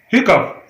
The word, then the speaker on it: hiccough: HICCOUGH hiccup. It is not hiccup. It is hiccup.